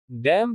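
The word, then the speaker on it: damn: डैम छाप देना। P is silent in certain combinations.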